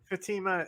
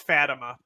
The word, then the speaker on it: Fatima: no what was that what was that pronunciation of Fatima is that how you actually pronounce it Fatima is normally how I would pronounce it but there are dialectical differences sometimes but I can't there's no way it's fattima no there's no way